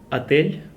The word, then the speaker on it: Отель: Отель Славянский базар. Отель Славянский базар. So, Well, Adele. Yes. Отель. The last one is, in this case, L is soft, like L. Отель.